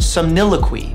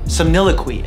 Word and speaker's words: somniloquy: I'm gonna butcher how to pronounce it. Somniloquy. Somniloquy, I think, is the right way to pronounce it.